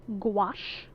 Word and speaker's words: gouache: Okay, so I'm going to use white gouache. Gouache rhymes with squash.